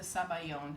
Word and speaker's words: sabayon: it that's the custard it's in italian it's zabal yoni in french it's a sabayon and they think that